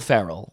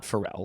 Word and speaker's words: Ferrell: I think it's Will Ferrell. Will Ferrell. Ferrell. Will Will Ferrell hosting? Will Ferrell, not Frell.